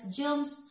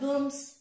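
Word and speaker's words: germs: জার্মস, জি ই আর এম এস, জার্মস নট গার্মস, বোঝা গেল?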